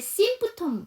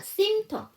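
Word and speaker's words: symptom: 했잖아요 여기서도 마찬가지로 원래는 심프 이렇게 발음을 해야 되는데 mpt 때문에 두 번째 피를 안 합니다 그래서 심터 증상이란 뜻이죠 근데 어텐션이에요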